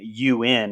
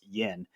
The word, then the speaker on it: Yeun: a walking dead and i actually was totally pronouncing his name you in until the director commentary we actually learned it's yen um but he carries